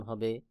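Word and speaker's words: هاء: হলকের শুরু হইতে হা উচ্চারণ হবে, হলকের শুরু হইতে। হা এবং হামজা দুইটা হরফ একই জায়গা থেকে উচ্চারণ হয়, যেমন হা আমজাহ হা আমজাহ।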